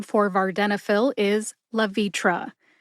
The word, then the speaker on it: Levitra: together and you get La vitra emphasize V see if you can hear that emphasis when I say it slowly love vitra love vitra that does for all